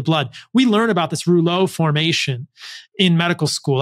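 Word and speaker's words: rouleaux: we learn about this roulet formation in medical school I believe it's spelled r-o-u-l-e-u-x um and and we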